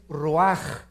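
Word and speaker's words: רוּחַ: Nep se pronuncia nepej porque la ch en hebreo es nepeg y la palabra espíritu es roaj. Se escribe ruach.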